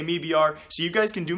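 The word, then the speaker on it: MIBR: both organizations and clean the owner of me BR he pronounces it me BR although if you don't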